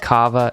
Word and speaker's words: kava: means family and it is spelled o-h-a-n-a and kava is spelled k-a-v-a you can order directly from their